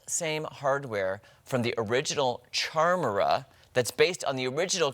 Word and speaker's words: Charmera: So check out this Kodak Charmera.